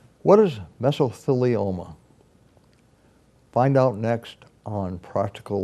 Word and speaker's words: mesothelioma: Michael Serling who is the leading expert in mesos Selenia and I may have mispronounced it but let's call it meso law